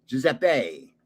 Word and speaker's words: Giuseppe: Italians pronounce E as A, Giuseppe.